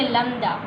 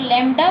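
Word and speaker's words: lambda: हुआ है ये, और इसको हम पढ़ेंगे लम्दा. लम्दा, इसे बहुत से लोग लैम्डा पढ़ते हैं, लेकिन इसकी प्रोनाउंसिएशन लैम्डा नहीं है, लम्दा, लिम्दा है.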